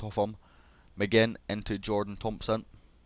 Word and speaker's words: Thompson: McGinn into Jordan Thompson. It's not got the J there because it's spelled differently, the Thompson, but it is pronounced the same, of course.